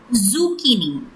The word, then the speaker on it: zucchini: The right pronunciation for this word is zucchini.